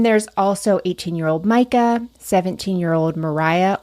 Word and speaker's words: Moriah: also 18-year-old Micah 17-year-old Mariah or Moriah as I say in my head because it's spelled m o r i h of course it is